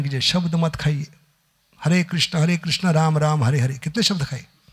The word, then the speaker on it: कृष्ण: हरे हरे राम और उच्चारण में कृष्णा नहीं, कृष्णा द्रौपदी का नाम है, आपका वस्त्रण होगा। कृष्ण बोलिए, क्योंकि इंग्लिश में कृष्णा बोलते हैं हम, इंग्लिश में क्रू नहीं है।